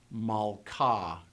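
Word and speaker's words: מלכה: so King mik but Queen Mala and if you say the a sound you can kind of hear the remnant of an H sound at the end of The Vowel ah likewise when you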